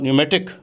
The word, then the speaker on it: pneumatic: और न्यूमेटिक, ये इसमें पी साइलेंट होता है, न्यूमेटिक जो है ये